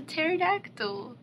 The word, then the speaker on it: pterodactyl: The P is silent. Oh yeah. It's a pterodactyl.